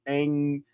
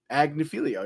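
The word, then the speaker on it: Agnifilo: The defense led by Mark Angilio, Agnilio, yeah, that's how you say it.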